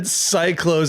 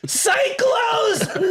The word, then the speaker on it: Psychlos: Whenever they said Cyclos, I audibly texted us screamed. right then. I audibly was like, Cyclos! What? And it's spelled Psychlos. Yeah, like just add an L into psycho.